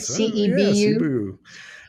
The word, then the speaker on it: Cebu: different way to do things okay Chrissy from Cebu am i pronouncing that right CEP you yeah one of the airline Cebu Pacific is